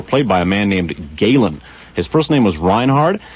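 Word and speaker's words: Gehlen: the Cold War played by a man named Gailen his personal aim was Reinhard his last name is spelled at geh le n now Reinhard Galen was Hitler's most important intelligence officer during World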